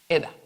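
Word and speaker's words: עדה: Testimonios son, así se pronuncia, Eda. Así se pronuncia la palabra testimonios en hebreo, Eda.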